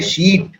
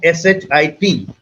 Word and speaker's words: sheet: Say sheet. So he meant a sheet of paper, but his pronunciation was wrong and it got me perturbed because he pronounced it as shit, which is something totally different.